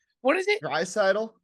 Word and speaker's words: Draisaitl: McDavid, and I don't even know how to pronounce the other dude's last name. What is it? Friedel? What is it? Draisaitl? Draisaitl.